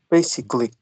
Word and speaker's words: basically: one b c Le four syllables try with three that's a good one is it basically excellent basically you got